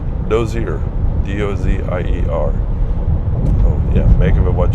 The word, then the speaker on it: Dozier: Again, I don't know if that was a community one time or just a train stop, a whistle stop, but it's called Dozier, D-O-Z-I-E-R.